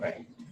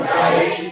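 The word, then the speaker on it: write: What should be the spelling of right? The spelling of right should be R-I-T-L. जो बच्चे बिल्कुल नए हैं वो ध्यान दीजिएगा W का उच्चारण नहीं होता है R से उच्चारण शुरू होता है लेकिन लिखते WRI ये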